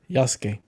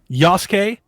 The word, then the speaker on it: Yasuke: Yasuke. Yasuke.